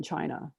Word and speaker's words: Qi: thing is Chi and that spelled Qi but it's pronounced Chi that's the essential ingredient